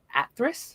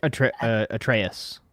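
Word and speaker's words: Atreus: We'll adopt the Norse era games with focus on Kratos and Atris. Is that how you say it? Atraeus.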